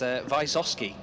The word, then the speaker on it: Wysowski: Myself and John Ward were told that it's Wysowski. Wysowski's apparently the best way for us to be able to say it, but I gave many